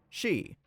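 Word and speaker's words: し: The number four and the word death share the same pronunciation of she.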